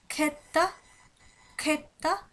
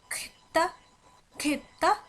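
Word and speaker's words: sjätte: তো এখানে যখন এস এবং জে থাকবে সুইডিশ ভাষায়, তখন সাধারণত উচ্চারণটা এরকম এরকম একটা শব্দ হয়ে থাকে। খেত্তা খেত্তা মানে ষষ্ঠ ষষ্ঠ অথবা সিক্সথ।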